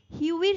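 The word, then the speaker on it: Hughie: এখানে আমাদের আলাপ হচ্ছে আমাদের গল্পের হিরো হিউইর সাথে উচ্চারণটা হিউই বলব।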